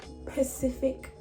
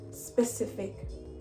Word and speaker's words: specific: this day not good pacific saying pacific instead of specific drives me nuts so